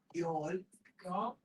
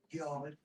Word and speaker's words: Youghal: A place called Youghal. Youghal. It's pronounced Y-A-W, but it's spelled Y-O-U-G-H-A-L.